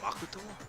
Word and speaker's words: Makoto: My name is Makoto.